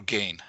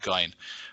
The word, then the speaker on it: Gein: the final take on how do you pronounce it g g or gain oh I I prefer ID gain it's just easy I I use the Germanic pronunciation G so I will say Ed gy but either way he